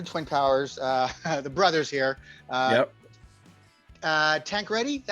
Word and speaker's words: Tancradi: Tancradi, is that how you pronounce it?